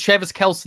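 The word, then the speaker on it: Travis Kelce: kelsey i believe um it's travis kelsey now he everyone's it's a tie rod situation i haven't been saying his name wrong it's it's it's it's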